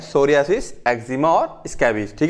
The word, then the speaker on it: psoriasis: सूर्याशीष क्या होता है सूर्य से पी यहां पर साइलेंट रहता है ठीक है सोरायसिस पढ़ा जाता है इसको तो डबल अजी